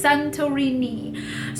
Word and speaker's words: Santorini: Wait, is that how you pronounce Santorini? Yes, Santorini.